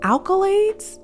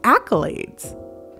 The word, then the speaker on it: accolades: I was like hey they're telling me alkalades doesn't have an L in the front of it like it's not in the beginning of it she was like no alkalades that's how you say it and I was like apparently it's accolades and she's like accolades